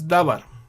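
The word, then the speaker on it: דָּבָר: If you put the vowels here, this is pronounced as davar, which means word or speech, and this is a noun. But if the vowels are different, this one can be read, this must be read as diber.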